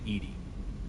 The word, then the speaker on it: EDI: Why are you named Edie? EDI is the phonetic pronunciation of EDI.